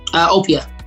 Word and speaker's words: Opia: Opia is how you say it, or is it Opia? Opia. Opia, okay.